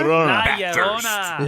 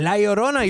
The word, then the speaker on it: La Llorona: Llorona? La Llorona. La Llorona.